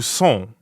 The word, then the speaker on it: sont: So that would be où sont. Où sont? Right, où sont. Sont. Sont. Sont is nasal, so it rhymes with bon, like at the beginning of bonjour.